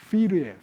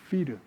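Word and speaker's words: πῦρ: 불이라는 말은요, 헬라어로 피르예요, 피르.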